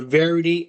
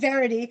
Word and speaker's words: variety: This replaced Genie Plus and let you book multiple Lightning Lane return times for a variety of attractions. He said varity.